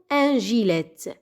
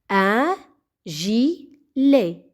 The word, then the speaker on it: gilet: ت في الأخير لا تنطق، لا نقول un gilet. un gilet, un gilet.